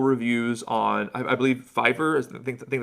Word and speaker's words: Fiverr: I I found this artist like with incredible reviews on I I believe Fiverr is I think I think that's how you say it.